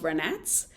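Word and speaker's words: Vranac: ranak another native grape that we learned is pronounced brunettes in fact about 70 of the wines plantagia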